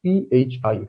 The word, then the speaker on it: phi: and this letter which you see here is pronounced as pi p h i phi right now we proceed to some examples